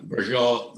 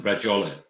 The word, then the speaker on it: bracciole: So We call them bracciole, like the bracciole, like meatballs, yeah. But the word, the name is pronounced bracciole.